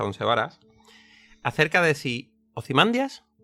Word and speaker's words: Ozymandias: y estos vocablos antiguos pues venían a ser una A larga seguida de 2 consonantes. Y eso habitualmente se traduce a nuestros días como que esa es la sílaba donde descargaría el golpe de voz. La sílaba digamos, con la tilde, aunque no la haya, y por lo tanto él humildemente piensa y para él Ozymandias está bien dicho.